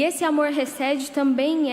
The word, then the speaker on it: hesed: em amor ou misericórdia, é a palavra hesed. Se tiver errado, o pastor Sidney corrige depois, tá, irmãos? A pronúncia. Mas é uma palavra que vem do hebraico, que diz hesed.